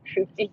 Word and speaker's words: Hoopty: Hoopty's pretty funny. My name is Hoopty, pronounced with an oopty.